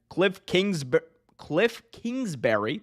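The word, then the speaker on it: Kliff Kingsbury: Cliff Kingsbury, that's how you say his name.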